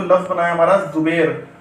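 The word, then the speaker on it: زبیر: अब आप इसे पूरा बनाइए ज़बैर, तो ये पड़ेगा जुबैर।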